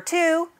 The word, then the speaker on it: two: this is the number two but it looks like 12 there's no in the word two there's just that silent w that we have to